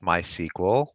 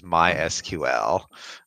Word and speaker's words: MySQL: to point out that it is not pronounced my sequel but it is MySQL wait yeah I I